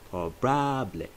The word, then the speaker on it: probable: Then probable is pronounced as probable. Probable. A there is pronounced as A. So probable is probable.